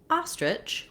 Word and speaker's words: ostrich: And then when we look at ostrich, we have the same second syllable, or the same itch sound at the end. A few other letters here in ostrich. Letter O, the first syllable again is stressed. And so often when letter O is stressed in English, it doesn't make an O or an ah or a rounded sound.